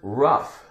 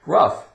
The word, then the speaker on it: rough: The word rough. Rough. GH sounds like F. Rough.